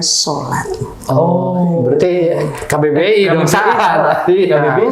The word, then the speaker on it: salat: Kalau bahasa Jawa menuliskannya biasanya salat, karena sa itu dibacanya so sebagai suku kata terbuka kan. Nah, salat itu bahasa Jawa. Ya, SALAT ya, salat dibacanya sholat.